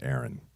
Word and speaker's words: Aaron: Actually, you pronounced my name Aaron. Yeah, you were there. It's not Andrea.